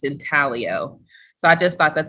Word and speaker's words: intaglio: to find out that the g is silent kind of like lasagna or um another word where the g is silent but in it's not it's not um pronounced in taglio it's in talio so i just thought